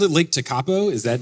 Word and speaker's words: Tekapo: Oh, I called it Lake Tekapo. Is that not? My apologies. What is it? It's Lake Tekapo.